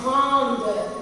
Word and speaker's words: grande: So grand, we are going to pronounce as grande. We are going to add a E. So we are going to pronounce that E. Grande.